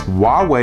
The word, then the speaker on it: Huawei: And yes, Huawei is how you pronounce the company name.